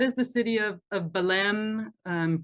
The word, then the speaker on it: Belém: the city of of Balem um pronounced Ben in Portuguese if you want to be um um totally appropriate with your pronunciations there. It sounds more like an N than an M.